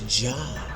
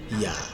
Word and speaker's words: Yah: because originally it's pronounced Yah. We know in Hebrew it's not Jah. There's no J in Hebrew. It's pronounced Yah.